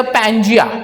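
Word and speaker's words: Pangea: this हां I just name it एज अ पजिया what पैंजिया what is the spelling पैंजिया see here P ए एन जी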